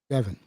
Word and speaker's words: Devin: is it Devon or Devin? Devin. Yeah, because some people pronounce it Devon, so with that E.